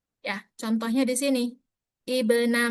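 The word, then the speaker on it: ابن: Ya, contohnya di sini Ibna Maryam bukan bukan abna tapi ibna.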